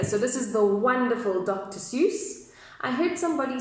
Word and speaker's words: Seuss: So this is the wonderful Dr. Seuss. I heard somebody saying that actually the way you pronounce it is Dr. Sauce, like tomato sauce.